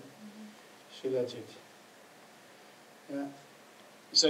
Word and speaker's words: Shilajit: Okay. Sheila, S-H-I-L-A, Jit, Sheila Jit.